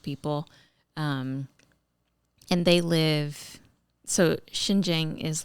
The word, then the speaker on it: Xinjiang: They shot a part of it in, I'm going to maybe have a hard time pronouncing it, but Xinjiang, China.